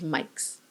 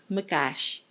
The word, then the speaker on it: Mikes: me written by George mikees Mr Naran morti gently corrected her pronunciation of the Hungarian author's name by telling her it's Mash sudaji could be prickly